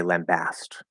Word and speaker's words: lambast: pick one um but i would use the ah sound in the um it will in both syllables but especially that second syllable okay uh um oh